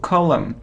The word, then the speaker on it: column: it's plumber without diploma it isn't column not column not o : no no we don't pronounce N and M column like here : look column it isn't finger not